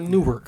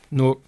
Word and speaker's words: Newark: No, Newark, not Newark. Newark. No, Yeah, he from New York. He don't know how to say York.